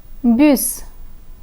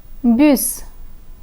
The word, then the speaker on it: bus: For example, trois, bus, trois, bus. The letter S in trois is silent, but the S in bus is pronounced.